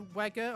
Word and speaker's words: Wega: that I think it was like the Wega or something like that system that the TVs that The came Wega. out that Or Vega, as that they're pronounced.